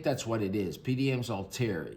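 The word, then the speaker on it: Althair: It's al t h a i r and I think that's all tear. It could be alair. Um you know this and everybody pronounces it differently. I'm pronouncing it alter with the silent h.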